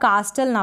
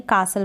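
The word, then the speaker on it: castle: आप साल बाद कैसे ये जो टी है ना यहां पर इन स्पेलिंग में आपको टी जो है साइलेंट दिखेगा इसको आप प्रिंट डाउन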